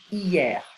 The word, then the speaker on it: hier: Yesterday is hier. Again, I don't pronounce the H.